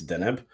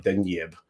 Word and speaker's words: Deneb: Is it Deneb or Deneb. I thought it was pronounced Graham, but you guys are surprising me. Honestly, if you want to get pedantic about it, it's Deneb.